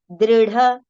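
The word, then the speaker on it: दृढ: It is dr, dr. Okay? Dru if we say that will be wrong. Dri if you say that will be also wrong. It is dr. But yes, in English actually exact pronunciation is not there. If you write you, it will become dru. If you write I, it will become dri, right? So it is actually in between that pronunciation.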